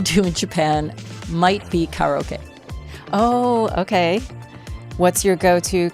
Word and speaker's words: karaoke: is what happens in karaoke stays in karaoke. I'm doing the Japanese pronunciation of karaoke.